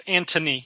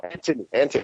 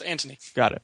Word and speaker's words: Antony: No, there's no H. It's Antony. Oh, Anthony. A-N-T. Anthony. It's more Italian. It's Antony.